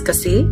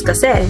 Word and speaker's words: kasi: So from what I was told, depending on the region that you grew up in the Philippines, and if Tagalog was your first Filipino language or not, you could hear someone pronounce kasi as kasi or kase.